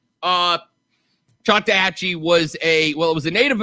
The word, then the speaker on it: Choctawhatchee: Bonzo, in the chat box on the live stream, right there, do me a favor, pronounce that word for me the best you can. Take a shot at that. Choctawhatchee?